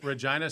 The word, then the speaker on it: Regina: I go, well, what's Regina? I don't understand. And Scott goes, it's pronounced Regina.